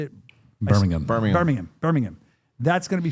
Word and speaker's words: Birmingham: Birmingham.